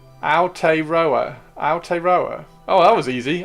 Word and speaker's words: Aotearoa: Ow, as if you stubbed your toe. Aotearoa.